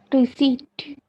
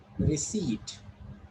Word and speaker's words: receipt: Receipt. It's receipt. This is long E. This E is short. This E is long. And which letter is silent here? O is silent. So we'll call it receipt.